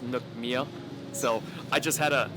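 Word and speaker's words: nước mía: speakers don't kill me I think it's pronounced Nook Mia so I just had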